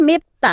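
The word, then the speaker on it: 맵다: फाछिममा ब आए लगत्तै पछाडी पट्टि द आउदा द को उच्चारण त भनेर गर्नु पर्दछ है। त्यही भएर यसलाई हामीले के उच्चारण गर्छौ त मेप्ता है। मेप्ता भनेको के हो त?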